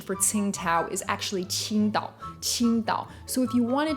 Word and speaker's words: Tsingtao: how weird it is for me to say ting tao like ting tao that sounds ridiculous it sounds